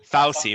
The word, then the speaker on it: Fauci: I don't know how to pronounce his name. Fauci, right?